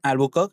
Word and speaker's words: Albuquerque: read more about them remember this is the pronunciation Albuquerque Albuk was another Portuguese governor He took this post in 159 and remained till 1515.